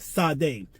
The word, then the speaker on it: Sade: bar this devil's name, pronounced Sade, spelled S-A-D-E.